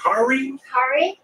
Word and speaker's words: Hare: Is it Hare? Hare Krishna. Krishna. Because I always say Harry.